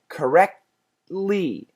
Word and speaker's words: correctly: of them as separate in other words correct stop at the T correct T don't finish it don't go t but go to the T correctly and right at that t Place go for the L Sound correctly correctly importantly importantly